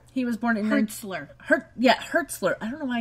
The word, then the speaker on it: Hertzler: Hurlitzer. He was born in... Hertzler.